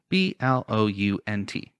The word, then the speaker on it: Blount: and he died i can't read your handwriting b-l-o-u-n-t blount wow okay that's pronounced it right i was just making sure